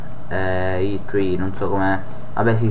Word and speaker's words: E3: mezza, sempre alle 3, E3, non so come, vabbè sì, si pronuncia all'inglese, quindi E3, anzi I3, ci sarà lo speciale